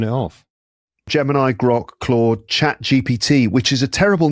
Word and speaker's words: ChatGPT: ChatGPT. Like, people can't say it. How many times have you heard people mispronouncing it and calling it Chat BGT or GBT or something?